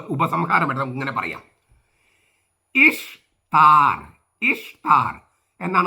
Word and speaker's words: ഇഷ്താർ: പാപിയാക്കരുത് അപ്പൊ നമുക്ക് ഉപസംഹാരം വരാം ഇങ്ങനെ പറയാം ഇഷ്ർ ഇഷ്താർ എന്നാണ് ഉച്ചാരണം ദേവിയുടെ ഈസ്റ്റർ എന്നല്ല രണ്ട് ബാബിലോണിക്കാരുടെ ദേവിയുടെ ഉത്സവമായി